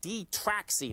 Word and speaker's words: Detraxi: our guest today folks is michael spy tech michael is the co-founder and president of d-traxxy now d-traxxy folks is spelled d-e-t-r-a-x-i website is d-e-t-r-a-x-i dot io uh